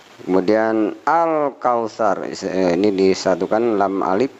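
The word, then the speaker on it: الكوثر: Kemudian al-kausar, ini disatukan lam alif, bacanya terang sehingga a'toinakal kausar, ya. Ada sa, ini bukan sya, bukan sin tapi sa, kal kausar, ya.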